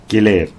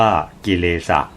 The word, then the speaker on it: กิเลส: ชมรม บ้าน ธรรมะ มสธ กิเลส เป็น คำ ภาษา บาลี อ่าน ออก เสียง ตาม ภาษา บาลี ว่า กิเลสะ อ่าน ตาม ภาษา ไทย ว่า กิเลส หมาย ถึง เครื่อง เศร้า